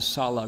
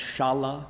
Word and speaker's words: Sala: And the Buddha in our story went to, came also, notice, here, stop in the Sala Grove. Sometimes pronounced Shala, but Sala, without the accent.